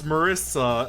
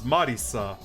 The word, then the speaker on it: Marisa: this game i hear in a lot of the japanese audio they pronounce marissa as marisa so it's a habit